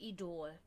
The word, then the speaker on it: Idol: In German we say idol. Idol. Right? Spelled the same way, just, So, it was always like, whenever I would tell my mom...